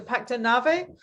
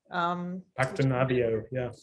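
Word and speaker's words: Pacto Navío: I also really love I actually really like the Pacto how do you say, is it the Pacto Nave, the recent one from Havana Club, Pacto Navio, yeah, which I really like.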